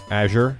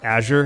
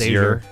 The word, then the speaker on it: azure: sorry Azure or something I I've apparently been pronouncing wrong my entire life Azure Azure instead I always knew it as aure oh okay I learned